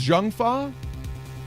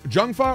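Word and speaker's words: Zheng Fa: what you've given a perfect arguments oh it's pronounced junfa janga or junfa oh thank you wow okay shows what I know about Chinese I'm sorry thank you for correcting me Jang is junfa or junfa you can't call what you've given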